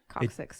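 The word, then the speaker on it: coccyx: it I pronounce it right? Coxix, It yes.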